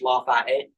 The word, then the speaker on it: Lafayette: Spelled like the French Lafayette, but pronounced Lafayette.